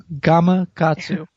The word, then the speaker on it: Gamakatsu: Gamakatsu.